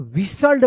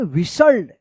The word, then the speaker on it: whistled: यहां पे जो है ना टी जो है ना साइलेंट था, तो विसल्ड पढ़ेंगे। क्या पढ़ेंगे? विसल्ड।